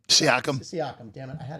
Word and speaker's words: Siakam: Siakam.